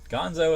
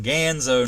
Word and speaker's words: Ganzo: simulated mother okay yeah gonzo is a muppet ganzo i'm sorry said it wrong ganzo knives not gonzo i like gonzo so